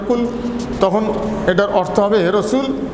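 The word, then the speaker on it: قُلْ: পরিষ্কার করে বলে দেন নুক্তাওয়ালা লাম যুক্ত হয়ে পেশ যখন হয় এটার উচ্চারণ হবে কুল তখন এটার অর্থ হবে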